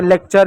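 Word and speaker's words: lecture: उसी प्रकार आपका यहाँ एक और शब्द हो जा रहा है कल्चर, देखो यहाँ पर भी यू साइलेंट है, लेक्चर यहाँ पर भी यू साइलेंट है, यानी यू आर ई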